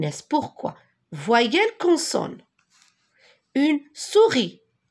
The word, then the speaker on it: souris: muette comme par exemple la souris regardez la souris je dois pas prononcé le s nord je l'écris